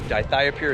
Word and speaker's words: dithiopyr: There are some other products out there, such as Dithiopyr or Dithiopyr, as some people pronounce it, that prevent crabgrass as well and other weeds.